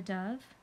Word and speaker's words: Dove: Sheo wrote about a beautiful bird called a dove. Dove rhymes with love.